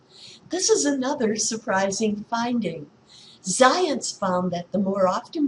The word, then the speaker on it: Zajonc: Science, pronounced to rhyme with science, but not spelled that way, as you can see,